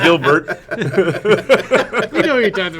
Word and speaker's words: Gilbert: These guys, Steve and I just saw Paul Giblert a couple of weeks ago, and I thought it was going to be one of those. I butchered his name. I didn't say Giblert instead of Gilbert.